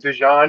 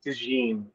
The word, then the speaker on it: DeJean: You pronounce Cooper DeJean's name wrong. You keep saying DeJean. It's DeJean. Oh, shit. I thought he was French.